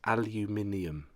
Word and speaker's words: aluminium: Yes, aluminium. That's how it's said.